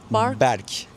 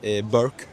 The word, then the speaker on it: Berk: Berk. Berk. But a lot of people say BK.